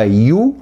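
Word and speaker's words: ewe: نعجه النعجه اللي هي بيسموها يو هي بتتكتب اي دبليو اي ولكنها تنطق يو يعني زي بالظبط قريبه قوي من كلمه يو يو ار كذا انت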